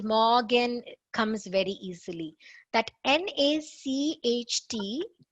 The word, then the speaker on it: Nacht: That Nacht, it's Nacht. That in English you can have, like, there are so many C and H pronunciations.